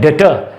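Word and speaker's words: debtor: ये डेटर है, ठीक है, डेबिटर नहीं है। आधे से ज्यादा लोग डेबिटर बोलते हैं, ये है डेटर, इसमें भी बी साइलेंट है।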